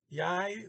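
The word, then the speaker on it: jeg: g there yeah um so that the e g just like an english long i i j y and then j is finalizing a y y y vill um i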